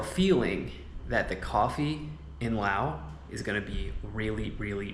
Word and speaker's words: Lao: here and uh yeah first time here in Lao guys so I'm excited to explore give you my first impressions of Lao and I am pronouncing it correctly right it is Lao not La so the English translation would be